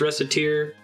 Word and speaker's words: Recettear: characters reset and tear so maybe it should be pronounced rest of tear that seems to be the Word of God like the localizer said that and I guess the